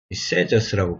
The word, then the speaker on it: Sadducees: many of the Pharisees and the Sadducees 세저스라고 발음하더라고요 Coming to where he